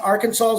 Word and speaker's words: Arkansas: illegal arcane arkansas's law arkan arkansas must be pronounced arkansas yes i heard that